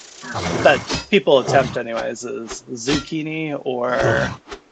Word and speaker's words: Xikini: people attempt anyways is zukini or zini trying to like combine the X and the I together to like make a z sound that's probably the more